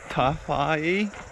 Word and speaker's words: Tawhai: to teef a toughy tough IE top 5 Falls it's spelled with a wh in the middle but I guess they say that is an F sound here yeah so